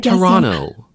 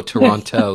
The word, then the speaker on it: Toronto: say is you know I'm American because I pronounced the second T oh Toronto yes Toronto Toronto okay um here's